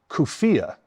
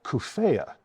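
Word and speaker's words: Cuphea: This one is a plant that I call Kufia, but many people call Kufea. And I just wanted to take this opportunity to point something out for all you botany geeks out there. There are official ways to spell the botanical or Latinate names of all plant species, official spellings, but there is not an official way to pronounce any of those botanical names.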